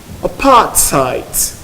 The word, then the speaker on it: apartheid: The word can be pronounced in 7 ways, according to the Cambridge Pronouncing Dictionary. But I'll give you a few of them. Apartheid, apartheid, apartheid, apartheid.